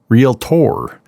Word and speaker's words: realtor: And it's just 2 syllables, real, and then tor. And they emphasize the tor.